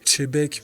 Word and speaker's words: Xebec: parle pour la prononciation la vraie prononciation c'est chebeek je trouve ça tellement pas ouf que je dis XBC puis je suis habitué